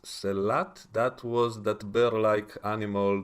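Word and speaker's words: sehlat: New Worlds, called The Slut Who Ate Its Tail, or actually I guess it's pronounced Selat.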